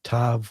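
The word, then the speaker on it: תו: Uh the uh dallet with d is in day and the tav with t is in toy and vav is v is in vine.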